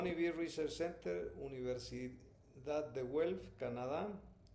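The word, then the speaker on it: Guelph: Hon be Research Center Universidad de Welff Canadá.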